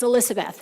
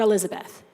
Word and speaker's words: Elizabeth: middle name is John my first name is Elizabeth with an S there are only two people in this chamber whoever pronounced that correctly it's Elizabeth not Elizabeth and the one who